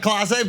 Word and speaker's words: Clase: He said Case, not Clase, but it was so good.